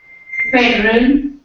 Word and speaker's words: federal: Federal. Federal. Where D is quite clear. Because D, E. Federal.